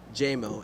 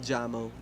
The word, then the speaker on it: Jameson: said it right now jmo as i hear the first base coach cheer on jameson that's at the plate now so it's jmo not jammo jamo as uh juliano back